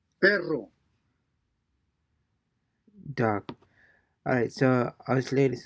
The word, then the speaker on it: perro: Try to trill the double R in each word. Perro.